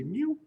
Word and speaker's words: mu: little extra leg on it right um it's pronounced from you think a little cat say mu right other two variables lowercase n is going